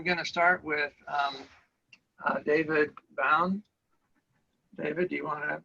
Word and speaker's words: Bowne: i i want to congratulate you on pronouncing my name correctly that is so rare so so thank you so um it is david bowen hi everyone i'm a